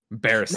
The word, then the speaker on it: Beruset: I'm going to say Beruset. B Russet. That's spelled B as in boy, ERUSET. Beruset.